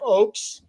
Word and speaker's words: Ochs: Yeah, so this is Jeff Oaks, but his last name is spelled Ochs.